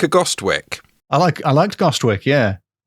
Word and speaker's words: Gostwick: Sir John Gostwick. Sir John is rubbish, but Gostwick is quite good. It's like Ghostwick, isn't it?